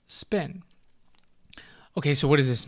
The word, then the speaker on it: SPN: segmented poly cephalus network an acronym SPN pronounced spin ok so what does